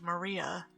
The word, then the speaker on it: Maria: name is written this of course this is pronounced Maria the third character looks like a cross which